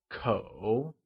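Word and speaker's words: 口: The measure word for family is ko. It is pronounced with the falling, rising tone.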